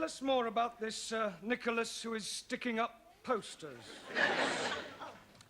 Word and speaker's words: Nicholas: upon a times there was a man called nickel ass it's not quite right no once upon a time there was a woman called Nel as it's pronounced Nicholas all right once upon a times there was